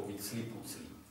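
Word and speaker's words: Huitzilopochtli: A on tvrdí, že se to vyslovovalo nějak podobně jako Vítsli Pucli.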